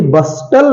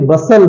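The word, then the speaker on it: bustle: ये कासल है okay B यू एस टी एल ई इसे बस्टल नहीं बोलेंगे इसे बसल बोलेंगे बसल ओके सोर सराब एल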